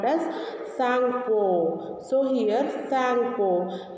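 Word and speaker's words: Tsangpo: So here Sangpo. Here pronunciation T is a silent here, so we cannot take a T.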